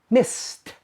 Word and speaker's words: missed: Miss, miss ends with a s sound, so you pronounce it missed, st, st, missed.